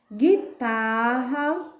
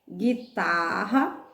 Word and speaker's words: guitarra: gente marca tá bom guitarra é guloso bangu a guinada mangue agulha guia ninguém então voltando vamos lá quem foi nós marcamos de guitarra a letra u tem pronúncia não então marque guitarra guloso